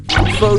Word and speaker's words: pho: Pho Shizzle, the Po House, Forget About It, or a good old-fashioned Ho Down? Hope you like what you picked. This delicious soup is pronounced pho.